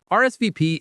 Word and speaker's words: RSVP: Even though the letters are French, in English we just say the letters.